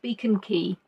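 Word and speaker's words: Beacon Quay: If somebody came across, they'd think, how do you pronounce Key? Well, they wouldn't think Key because they don't know how to pronounce Key, but yes, it is Beacon Key.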